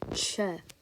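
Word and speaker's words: Ч: this letter is called Che and with this letter this letter is actually supposed to make the CH sound which you can kind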